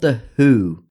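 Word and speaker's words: The Hu: They're called the Who, but it's spelled obviously differently.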